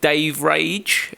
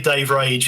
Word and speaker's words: DaveRage: I I never never knew how to pronounce it if it was Didge or Dave Ra. No, it's definitely Dave Rage.